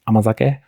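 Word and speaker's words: 甘酒: they're not familiar with this word, it is pronounced amazake.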